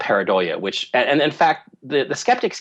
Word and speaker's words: pareidolia: I never say it right. Pareidolia, right? Oh, am I saying it right? You say it. Pareidolia. I think it's pareidolia. Yeah, I think it's pronounced pareidolia.